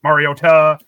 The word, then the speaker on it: Mariota: I'm doing the Mariota thing with him, like Mariota, Tesla. Yeah. But at least we know that's how his name's pronounced.